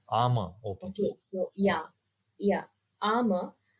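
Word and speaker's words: Ama: is Amma okay so it is pronounced as armor armor okay so yeah yeah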